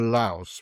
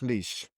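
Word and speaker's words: Laois: well, she she owns a company called Baxter Laos, which is lous is leash. Leash. It's pronounced leash because that's the joke.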